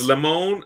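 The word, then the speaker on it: limón: It's limon and limas here. That's how you say it.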